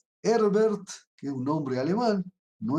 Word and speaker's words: Herbert: herbert simon en castellano en inglés se lo pronuncia simon herber así como se escribe con h herbert que un hombre alemán